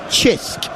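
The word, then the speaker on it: Cisk: few pints of it I know how it's pronounced chisk it's the local beer because I had a Maltese old colleague of mine he used to bring us a few cans of chisk so very nice for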